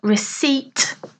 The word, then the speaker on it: receipt: prepare a dish and a receipt uh receipt again note the pronunciation is proof of payment so